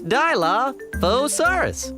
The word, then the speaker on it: Dilophosaurus: That's Dilophosaurus.